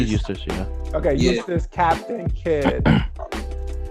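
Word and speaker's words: Eustass: got edith edis uh pronounced his name wrong i think it's edith's not useless is it useless it's usually useless okay use this captain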